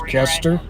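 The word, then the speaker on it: Koester: you Stephanie for letting us know the correct pronunciation it is ker as you initially thought k o e s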